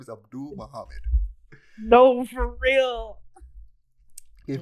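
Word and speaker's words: Avdol: JoJo gift but in JoJo you have uh avidol who is only called avidol because both in the the dub and sub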